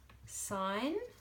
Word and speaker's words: sign: already gone through is sign so the G is silent and then we've got